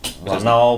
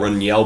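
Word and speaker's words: Ronel: 3 second clap to Ral Blanco relle Blanco that's how you pronounce it it's relle not but they actually have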